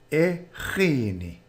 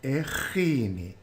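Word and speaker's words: eRhini: The response: ndisuka eGhini. Ndisuka eGhini. I come from Grahamstown. Note the RH pronounced ch.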